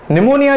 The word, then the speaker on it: pneumonia: निमोनिया अ मैं अपना निमोनिया जो है जिसका नाम में पीस साइलेंट है तो पूनिया बोलेंगे तो पता नहीं साइलेंट हमें तो अभी क्योंकि